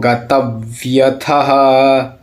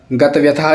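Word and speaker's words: गतव्यथः: अनपेक्ष सुचिद दक्ष उदासीनो गतव्यथा गतव्यथा नहीं गतव्यथ सर्वारंभ परित्यागी यो मद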